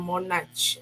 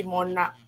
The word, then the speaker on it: monarch: Okay, tapi bukan CH lah.